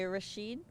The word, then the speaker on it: Rashid: I have an analogy for why Rashid, is that how you say it? Bike Rashid, yeah.